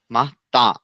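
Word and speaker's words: matin: তারপর সে মাতিন সো, মা, তা, মা, তা, সো মাহ তা লাস্টে এনের উচ্চারণ হবে। মা, তা, আকার মা হবে বাট নেভার। আচ্ছা মাহ তা হ্যাঁ, একটু নাকায় হবে মাতা, নাকের মধ্যে চলে আসবে আর কি।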